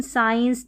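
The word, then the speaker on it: science: Y आ गया तो SC को हम स प्रोनाउंस करते हैं। जैसे कि यहाँ पर देखिए सीन, साइंस, डिसिप्लिन, सीजर्स, और ये है फैसिनेट और डिसेंड, डी है ना।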